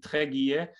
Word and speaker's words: Tréguier: I'm actually under that blue spot, and the hamlet is called Tréguier. That's how the French pronounce it.